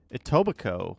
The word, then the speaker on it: Etobicoke: Etobicoke with the silent K.